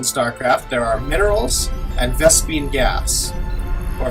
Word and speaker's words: Vespene: There are minerals and Vespene gas, or Vespene, either way. SCV ready. So, how's that actually spelled? It's spelled Vespene, but a lot of people say Vespene.